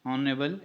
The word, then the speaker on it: honorable: से शुरू होता है लेकिन उसमें जो एच होता है वो साइलेंट होता है. जैसे कि हमारे पास है ऑनेस्ट, ऑनरेबल, एटसेट्रा.